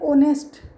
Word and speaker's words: honest: अब ये देखो इसमें साउंड किसकी आ रही है, साउंड किसकी आती है, ऑनेस्ट, ऑनेस्ट में HONEST।